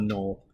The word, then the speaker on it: gnoll: So it's pronounced no. Knoll, yes.